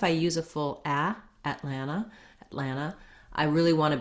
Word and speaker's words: Atlanta: often also drop so when words have an nt in the middle native speakers often uh leave that tea out rather than atlanta i might be more likely to say atlanta atlanta so i just move right into the final a which is a schwa sound and sounds like ah so thinking about it